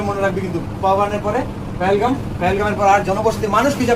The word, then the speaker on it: পেহেলগাম: দরজা ঠিক আছে সে পেহেলগাম বানানটা কি হবে পি এ এইচ এল জি এম পি এচ এল জি এম পেহেলগাম পেহেলগাও বলে ঠিক আছে কোন ব্যাপার পেহেলগাম পেহেলগাম